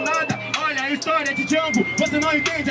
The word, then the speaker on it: Django: Né Jonga, né Django, o D é mudo.